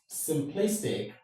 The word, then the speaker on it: simplistic: Look at the word simplistic. Let's break this word into syllables. Sim is the first syllable. Sim, play, please. Then we have tick, right? Okay. Now, according to this rule, is the syllable that will take the stress. So we got this way: sim, place, tick. This is how we go.